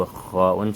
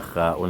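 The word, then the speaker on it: خاء: On rappelle toujours que kha'un se prononce au fond de la voix, ce n'est pas kha'un au milieu de la langue.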